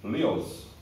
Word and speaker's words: Lewis: Escreve-se Lewis, pronuncia-se Lewis.